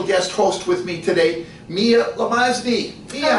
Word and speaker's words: Mia: Your name is spelled M-I-A, Yes, but it is. pronounced Mia. Why is it not Maya?